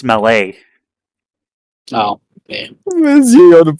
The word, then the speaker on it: Mallet: Mallet type locomotive articulated. I can't give you the point. You said it wrong. Well, these were articulated malletype locomotives. No, it's mele.